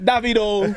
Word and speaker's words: Davido: The world famous worldrenowned African legendary Afro beat artist is pronounced David O. All right. Not Dito. All right. Not Davido.